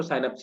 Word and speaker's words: साइनेप्स: नहीं sir, naps, आपने कौन सा नैप्स मतलब कुछ लोग एस नहीं बोलते हैं, है ना, एस वाई को साइलेंट कर देते हैं, नैप्स बोलते हैं, है ना। लेकिन सही प्रोनाउंसिएशन इसको साइनेप्स ही कहते हैं, स्पेलिंग यही होती है सेम।